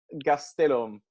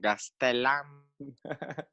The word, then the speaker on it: Gastelum: Your full name is Antonio Gastelum. So, yeah, exactly. you pronounce it better than the people from Mexico. Oh. People from Mexico call it Gastelam.